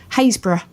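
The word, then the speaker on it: Happisburgh: There's there's another place that we go to in Norolk and there's a place up the road that is is spelled Hapisburg. Hayesbor.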